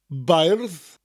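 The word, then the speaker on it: beirdd: Gwlad bairdda chantorion, enwogion o fri. Gwlad is gw and lad together. Gwlad, bairdd, is a by sound. Slight rolling R and a TH.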